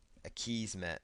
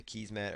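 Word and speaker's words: Akismet: another plug-in here called a keys met or a Kismet or a Kismet depending on how you want to pronounce it just choose activate but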